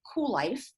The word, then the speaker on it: Kuel: I'm the founder and CEO of Kuel, and that is spelled with a K. It's all cattywampus, Kuellife, and it is a play on the whole concept of cool and continuing to be cool as we age.